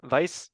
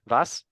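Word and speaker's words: Wass: okay sorry yeah Daniel Vice from that's not how you say it vas vice versa for brand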